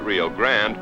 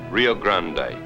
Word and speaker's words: Rio Grande: Here at the New Mexico-Texas border, they pronounce it Rio Grande, but 500 miles downstream, Texans use the Spanish pronunciation Rio Grande.